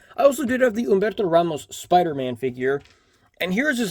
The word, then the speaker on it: Humberto Ramos: this oops and also it's pronounced Umberto Ramos because it's Spanish I've heard a lot of people say Humberto Ramos which fun fact in